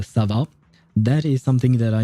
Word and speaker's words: Sova: I do recognize the Sova, S-O-V-A, which means owl, but it's actually pronounced more like a Sava.